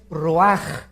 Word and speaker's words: ruach: es nep y la palabra espíritu es raj se escribe ruach entonces vemos aquí dos